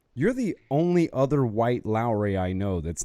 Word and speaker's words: Lowery: Is our last name 3 syllables or 2 syllables? Is it Lowery or Lowry? Interesting. Lowry. It's 2 syllables, dang it.